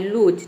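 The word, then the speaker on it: lose: plus इ आया है लेकिन हम यहां पे ओ को ओ प्रोनाउंस नहीं कर रहे यहां पे ओ को उ प्रोनाउंस कर रहे हैं ठीक है बड़ी उ की मात्रा में उ तभी इसका साउंड तभी इसका प्रोनंसिएशन क्या आ रहा है लूज ठीक है तभी इसका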